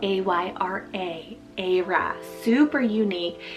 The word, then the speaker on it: Ayra: I have Ayra, spelled A-Y-R-A, Ayra, super unique.